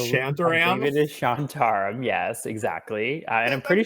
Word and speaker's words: Shantaram: behind the scenes we realized that I probably mispronouncing the name of the show it's what shantarum it says chant around it is shantaram yes exactly and I'm pretty sure it's Charlie